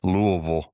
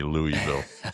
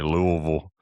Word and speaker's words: Louisville: I think it might have been when we were in Louisville. Yeah, Louisville. You got to say it like that. You can't say Louisville. Got to say Louisville.